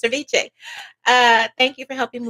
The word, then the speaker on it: VCHA: Like Viche. Uh thank you for helping me with the pronunciation.